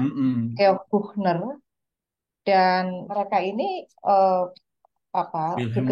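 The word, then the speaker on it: Büchner: Wilhelm Wilhelm Wilhelm Helmut Karl Schäfer, uh, George Bechner, mm-mm. Wilbur, sorry, Wilbur itu kota dari Iya, Karl Schäfer berasal. Tapi yang terkenal memang dua pemimpinnya, Karl Schäfer dan satu lagi disebut Georg ya bacanya, mm-mm. Georg Buchner.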